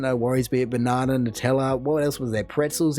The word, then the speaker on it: Nutella: i feel as though no one is going out there saying nut is newt like that's just completely wrong and so it's nutella for me all the way and